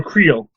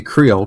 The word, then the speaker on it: Creel: I'm pretty sure they say Creole because it's like C-R-E-E-L.